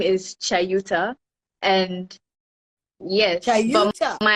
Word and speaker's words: Chayuta: So we need to be saying Chayuta.